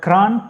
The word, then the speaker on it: Kranj: She is from Slovenia, a city called Kranj. Kranj, is that the right pronunciation, Tanya?